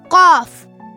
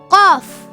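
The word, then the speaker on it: قاف: Let's watch Qaf. Hi, my name is Qaf. Qaf. Qaf. Qaf. You can spell Qaf in English as Q-A-A-F. Qaf. It sounds like the English alphabet Q with the heavy pronunciation.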